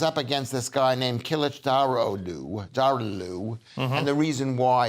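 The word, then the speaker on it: Kılıçdaroğlu: against this guy named kilichdarodu darlue and the reason why it's called derulu is because the g is silent in this book in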